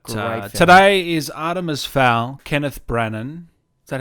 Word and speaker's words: Kenneth Branagh: But Great today is Artemis Fowl, Kenneth Branagh. Is that how you say it? Kenneth Branagh. Jesus. We are off to the races today. Kenneth Branagh?